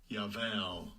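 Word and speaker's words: יָבַל: Yeah, so you see, the root is Yabal. Strong's H2986. Yaval. Yes, they pronounce the B as a V.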